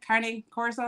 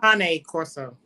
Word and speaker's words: Cane Corso: Carne Corso. Cane Corso.